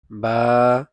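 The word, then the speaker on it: ب: মিম নুন ওয়াও হামজা ইয়া আরবি 29 হরফের উচ্চারণ আমরা শিখবো। আলিফ আলিফ। তারপর হল বা উচ্চারিত হয় দুই টুট হতে।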